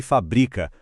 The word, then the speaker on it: fabrica: Fábrica e fabrica. Com acento é o substantivo, o lugar, a indústria, a fábrica. Sem o acento, a sílaba forte muda pro bri e vira o verbo.